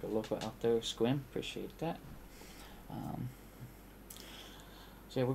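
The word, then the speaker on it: Sequim: Squim, appreciate that.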